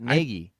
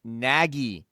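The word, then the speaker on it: Nagy: on the podcast Negi Trent naggie not negi Naggie.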